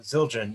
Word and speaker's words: Zildjian: John you're a musician you know the symbols zildagen zildagen um uh Zildjian yeah they're an Armenian family in Massachusetts that